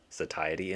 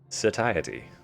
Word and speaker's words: satiety: Can't casually conversate about the satiety index? No. Well, I couldn't. Now I can, because I can pronounce the word now. Satiety. I'm going to enunciate the T's in satiety, because I can.